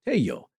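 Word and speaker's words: Tello: archeology Dr Julio Cesar hey yo and that's t-e-l-l-o so in in Spanish you would pronounce as y uh sound and he was an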